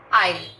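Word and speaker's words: aisle: Number 1, आइल। आइल, इसमें S silent है, ध्यान दें। आइल, एस का साउंड नहीं है।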